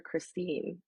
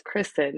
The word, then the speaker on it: Kristin: People would be like, "You called her Christine. It's Kristen," and I'd be like, "No, it is Christine." They're like, "No, but it's spelled Kristen."